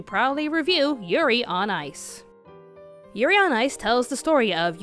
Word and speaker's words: Yurio: For the sake of this review, we're just going to call Yuri Plisetsky Yurio, because it rhymes with Cheerio.